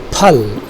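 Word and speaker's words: پھل: Then you have another word, phal, in which there is an aspiration.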